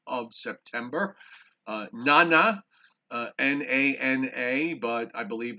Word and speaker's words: Nana: september uh nana uh n-a-n-a but i believe it's pronounced the na is nah so it's nana and uh also we